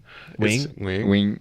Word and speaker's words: Nguyen: Nguyen's not how you say it though. Wing.